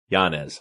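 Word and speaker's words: Yanez: I have Ricardo what's your last name Giannis Giannis how do you spell that y-a-n-e-z that's a it's that uh Mexican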